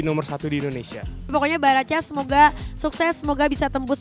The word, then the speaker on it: Baracas: Baracas bukan Barakas ya bacanya ya?